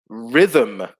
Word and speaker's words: rhythm: good one as well rhythm yes silent h in rhythm uh that's a good